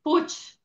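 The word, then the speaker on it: Puig: It's Puch. You pronounce Puch. it Puch. Okay, there you Puch. go. My mother is from Barcelona, so it's a Catalonian last name.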